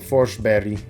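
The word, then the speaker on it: Forsberg: Next, Philip Forsber, another good player at the Olympics. Philip Forsberry, I think it's more of the Swedish pronunciation.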